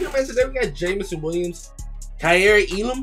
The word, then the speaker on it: Kaiir Elam: we got jamison williams kyrie elam that's how you pronounce the name in this uh josh